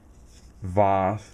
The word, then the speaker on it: HVAS: So CRKT VAS, the H is silent.